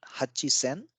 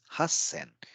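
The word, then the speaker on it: 八千: generic rule applies but 8 000 is not Hachi sen it's Hassan so there is a combination of sounds so again a double consonant comes into picture so since Hutchison is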